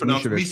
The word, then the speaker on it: Mishevic: Okay, yeah, but people call it Misovic. Sure, yeah. And I'm like, no, it's Mishevic.